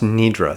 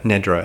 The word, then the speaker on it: Nidra: is the Sanskrit word for sleep is not pronounced nedra that's unfortunate miss pronunciation that gained a lot of currency in the yoga world its Yoga Nidra is the correct way to say that term